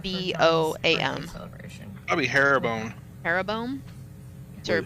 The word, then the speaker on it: Jeroboam: Jeroboam? Wait, how do you spell it? J-E-R what? It looks like arrow, but it's spelled with a J. So Jeroboam. Oh, why do I look